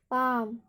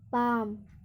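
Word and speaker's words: palm: ऐसे ही पाम, पी ए एल एम, यहाँ पर भी एल एम आ रहा है अंत में, तो एल का उच्चारण नहीं होगा, इसलिए क्या पढ़ेंगे, पाम।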